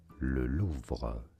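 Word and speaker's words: Louvre: The name of this museum located in Paris known in France as Lulu.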